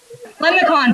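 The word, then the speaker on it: limaçon: lemon scun lemon con lemon con that's how you say it lemon con there you go this is a lemon con like a leprechaun but a lemon con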